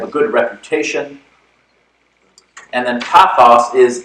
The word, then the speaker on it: pathos: They're pronounced logos, ethos, and pathos.